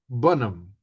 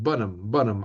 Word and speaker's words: Bun Em: It's called Bun Em, or like the British pronunciation of Burnham, Bun Em. I guess that's what he's trying to say, right?